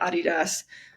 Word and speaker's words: Adidas: in London helping with the Adidas that's how you say it in Europe merchandising team for their